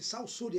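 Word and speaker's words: Saussure: Então ele eh eh escreve-se Ferdinand Ferdinands e a pronúncia é esse salsuri é si.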